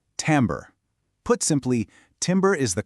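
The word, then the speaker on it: timbre: The word is timber, and it's pronounced tambber.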